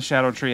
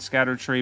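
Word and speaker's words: Scadutree: an amazing Ash of War even on the shadow tree Avatar and by the way I've mentioned this before but those that don't know or aren't up on the current pronunciation it is Shadow tree I know for the longest time we were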